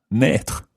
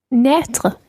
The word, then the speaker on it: naître: Naître. Naître. It's spelled N-A-I circumflex T-R-E. Naître. Naître.